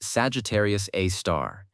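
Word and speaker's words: Sagittarius A*: Pronounced Sagittarius A star.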